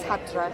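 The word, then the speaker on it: Hæddre: My Anglo-Saxon name is Hadra. Hatra. Hadra. H-Ash, which Yeah. is the A-E, back to back for the letter, and then double D-R-E, but you pronounce it Hadra.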